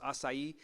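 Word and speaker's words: açaí: say it correctly by the way acai bowls acai and one of the things that we want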